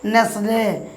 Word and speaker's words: nestle: তারপর উদাহরণ দেখুন, NESTLE, উচ্চারণ কী হবে নেসলে।